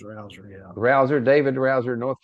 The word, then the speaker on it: Rouzer: I guess that's Rouzer or Rozier. I don't want to get it wrong. Do you know that guy, how to pronounce his name? Pretty sure it's Rouzer, yeah.